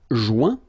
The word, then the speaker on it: joint: Joindre, joint. Rejoindre, rejoint. Okay, same thing. Final T not pronounced.